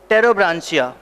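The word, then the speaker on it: Pterobranchia: आएगा एंटेरोप्न्यूस्टा, एंटेरोप्न्यूस्टा एंड टेरोब्रांसिया। P silent है, याद रखना, जैसे टेरिडोफाइट में पी साइलेंट होता है वैसे ही पी लिखा हुआ है, पर वो टेरिडोब्रांसिया ही है, पी साइलेंट है।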